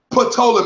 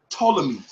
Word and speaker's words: Ptolemy: he keeps talking about potala means that's not how you pronounce it the P is silent it's just Ptolemy that's it Donna make